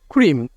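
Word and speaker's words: cream: এটার উচ্চারণ হবে ক্রিম। উচ্চারণ কি হবে? ক্রিম। এই যে সি এর পর আর আছে, সি এর উচ্চারণ হচ্ছে ক এর মতো।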